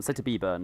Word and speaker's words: Slater B Burn: Wait, Slater Burn or Slater B Burn? Slater B Burn is how you say it out loud, right? B burn. B Burn, specifically B Burn. Definitely the B. Don't forget the B.